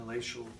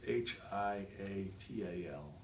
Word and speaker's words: hiatal: it, this morning, and it showed a hellacial hernia. Is that how you say that? Yes, sir. And so that explains his acid reflux endoscopy, and it's HIATAL, hellacial hernia, which is more